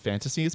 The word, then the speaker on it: Phantastes: By the way, it's called Fantasies. It's called Fantasies, spelled with a PH. Yeah, right? it's spelled Phantastes. Yeah, it's really weird. Interesting. Instead of like what we think is like fantasy with the F and just the Y.